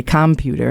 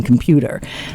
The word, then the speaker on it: computer: non-native speaker is that their placement of stress might be incorrect in pronouncing a word. So they might say computer rather than computer, for example.